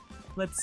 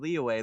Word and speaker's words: Liyue: Is it So, I guess it's pronounced Le. Okay. Oh, man. I've been pronouncing that way wrong, man. I've been pronouncing it leway this entire time.